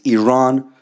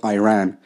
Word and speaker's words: Iran: the Iranian people but you're pronouncing our country's name wrong our country is named Iran not Iran please once and for all